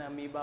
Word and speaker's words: amoeba: अब हम लोग को शुरू में बचपन में इसको दिमाग में बिठाने में समय लगता था, इसका प्रोनाउंसिएशन अमीबा होता है, स्पेलिंग होता है वो, इसे बचपन में सब चीज़ें तुरंत नहीं बैठती हैं दिमाग में।